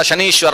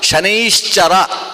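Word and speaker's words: ಶನೈಶ್ಚರ: ಅವನನ್ನು ಶನೇಶ್ಚರ ಅಂತ ಕರೀತಾರೆ ಕೆಲವರೆಲ್ಲ ಶನೇಶ್ವರ ಅಂತ ಅಲ್ಲಲ್ಲಿ ಬೋರ್ಡ್ ಹಾಕ್ತಾರೆ ಅದು ಸರಿ ಉಚ್ಚಾರಣೆ ಮಾಡಲಿಕ್ಕೆ ಬರದೆ ಇದ್ದರ ಸಮಸ್ಯೆ ಅದು ಶನೀಶ್ವರ ಅಲ್ಲ ಶನೇಶ್ಚರ ಶನೇಹಿ ಅಂದ್ರೆ ಮೆಲ್ಲನೆ ಸಂಚರಿಸುವವ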